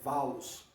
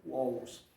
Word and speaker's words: Van der Waals: Alguns pronunciam como Van der Waals, mas o nome é em holandês. Eu já verifiquei, a pronúncia é Waals. O W lá, na Holanda, a pronúncia é Waals. Então, Van der Waals, não Walls. Se fosse na Inglaterra em inglês, tudo bem, né? Como James Watt. Aí seria a pronúncia Walls, né? Mais ou menos isso. Mas é Van der Waals, ok?